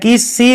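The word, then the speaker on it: Caius: Kent, और बाद में ये कीज बन जाता है, अपना नाम कीस रख लेता है। कायस भी पढ़ते हैं, लेकिन आप जो भी मन करे वो पढ़ लो, मेरा तो प्रोनाउंसिएशन ऐसा ही है।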